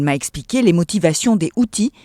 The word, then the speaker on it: Houthis: Elle m'a expliqué les motivations des Houthis qui se prononcent en réalité avec un S en arabe.